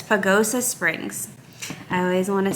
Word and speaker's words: Pagosa Springs: going to let me look because i always pronounce it wrong is it pagosa it's pagosa springs i always want to say pesoga that's pagosa springs and we're going to be